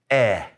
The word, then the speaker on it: e: It's pronounced eh. Eh. It's like EH almost in Spanish.